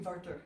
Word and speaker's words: Werther: You pronounce the TH as a tough sound. And it would actually be Werther, because the W is a V.